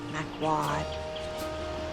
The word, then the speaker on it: McQuoid: McQuoid? Quad. One syllable. McQuoid. Well, 2 syllables. But the second part is 1 syllable. Wad. McWad. Is it Gaelic?